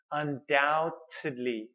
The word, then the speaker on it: undoubtedly: Okay, please don't pronounce the B. It's not undoubtedly, no. Undoubtedly.